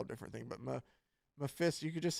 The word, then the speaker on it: Mephisto: No, that's not how you say it either. Now you've fucked up my pronunciation How of do you say it? It's Mephisto. Mephisto. thankfully. There we go. We're done. It's Mephisto in Marvel.